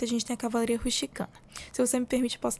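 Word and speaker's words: Cavalleria rusticana: No dia 8 a gente tem a cavalaria ruchicana. Se você me permite, posso até contar um pouquinho da histó que que é cavalaria rusticana que pronuncia é cavalaria rusticana.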